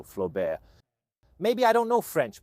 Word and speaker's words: Flobert: a certain Nicolas Flobert, often read in the Italian way as Flaubert, but he was very French, so Flobert.